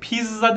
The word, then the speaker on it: pizza: edelim pizza ne demek Bu da Biz zaten aynı okunuşu yaptıktan farklı ben direk Pizza demiyorsunuz yani orada iki tane Z çıkmıyor bitti harfi gibi bir şey çıkıyor Pizza Pizza Pizza Pizza değil okunuşu en son olarak da